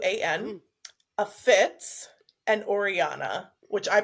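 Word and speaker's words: Orianna: spelled euu a an a Fitz and Oriana which I pronounce it Oriana and it's o r i a n n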